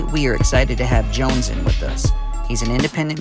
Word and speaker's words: Jonezen: No, Jonezen. See, I want to pronounce the Z.